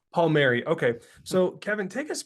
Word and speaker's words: Palmieri: young and how do I I'm sure I butchered your last name how do you say it Paul Mary Paul Mary okay so Kevin take us back to a